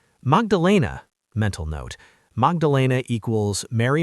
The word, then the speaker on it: Magdalena: Almost. Magdalena. Yes. The accent is on the third syllable.